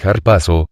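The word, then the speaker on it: ἁρπάζω: latina para traducir el verbo griego arpazo pronúnciese harpazo, que significa arrebatar, en 1 Tesalonicenses 4:17.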